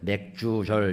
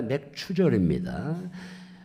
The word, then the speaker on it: 맥추절: 맥추절을 잘못 발음해서 어린애들은 맥주절 이렇게 얘기를 하는데 맥주가 아니라 맥추절입니다.